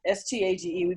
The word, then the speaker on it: stage: So my stage, STAGE, we pronounce it stage, my stage 50 departed without me.